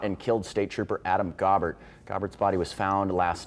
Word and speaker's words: Gaubert: start out with uh adam uh gobert that's how his name is pronounced i know a lot